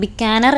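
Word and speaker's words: बीकानेर: രാജസ്ഥാനിലെ ബിക്കാനർ എന്ന് പറയുന്ന, ബിക്കാനർ എന്നായിരിക്കണം ഉച്ചാരണം, ഒരു സ്ഥലമുണ്ട്.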